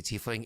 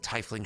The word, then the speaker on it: tiefling: roll me a it's it's pronounced so horribly when you say t fling it it throws me off at other people pronouncing things correctly like tifling shied it just makes